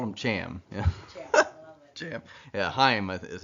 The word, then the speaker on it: Chaim: Weitzman's first name was C-H-A-I-M, and I didn't know how to pronounce it, so I called him Cham, called him that to his face, and he liked it.